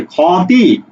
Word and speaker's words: ক্ষতি: করো আমি কি বলছি এটা কিন্তু উচ্চারণ হচ্ছে খ অচ্চারণ হচ্ছে শেষে খতি এই আমরা কি ক্ষতি